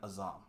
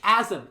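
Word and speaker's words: Azem: And is a shard of the Asian Azam. Yes. You keep saying the name wrong. That's how I read it. I'm sorry. It's Azim.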